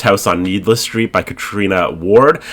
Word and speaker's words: Catriona: on needless Street by Katrina Ward I always mess up that first name when it's spelled like catriona but it's Katrina I got to get that in my brain Katrina Ward um brother